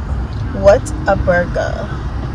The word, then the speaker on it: Whataburger: hair we didn't try Whataburger what is Whataburger what a burger how do you say it Whataburger so we're